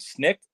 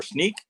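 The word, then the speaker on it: Snyk: powered by a platform called snick or sneak depends on who you talk to how they like to pronounce it but effectively what we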